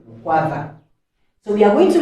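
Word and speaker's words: Mkwawa: That's why he was called Mukwava. Though for us we cannot pronounce it, that's why we call it Mukwawa, which meant that he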